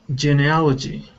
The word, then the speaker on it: genealogy: you go good uh this word here is pronounced geneology genealogy geneal genealogy there you go okay very good uh next